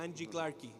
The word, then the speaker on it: Randy Clark: Le decimos a ella la pequeña Angie Clarkie. That's the way you say my name in Portuguese, Angie Clarkie.